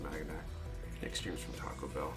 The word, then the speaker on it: Maganac: Magwanac, something like that is how it's supposed to be pronounced, but I've always pronounced it Maganac.